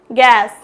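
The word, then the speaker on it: guess: है उसका sound produce होगा guitar next guard गैस गैस्ट गाइल गाइड और किल्ट बिस्किट क्या हो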